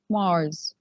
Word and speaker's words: Mars: mars mars mars okay here we will pronounce this letter s like z okay mars and here we have